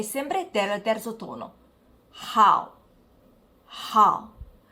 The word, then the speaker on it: 好: Hao, hao. Qui notiamo anche che l'H in cinese va pronunciata, si dice hao.